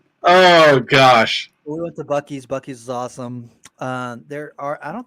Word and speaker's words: Buc-ee's: We went to I'll say it right, Buc-ee's.